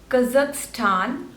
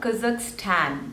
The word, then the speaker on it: Kazakhstan: to pronounce this country Kazakhstan so there are three syllables and the stress is on the third one Kazakhstan Kazakhstan Kazakhstan next